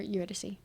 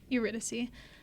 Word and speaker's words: Eurydice: Or Eurydice. Eurydice.